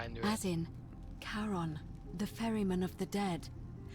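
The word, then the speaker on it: Charon: is a little off the name you heard wasn't Karen it was c h a r o n yeah I knew it as in karon the Fairman of the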